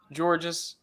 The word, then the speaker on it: Georges: It is spelled Georges. It is pronounced George.